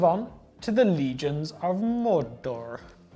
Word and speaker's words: Mordor: Okay, now we move on to the Legions of Mordor. Roll your R's, James. There we go. Mordor.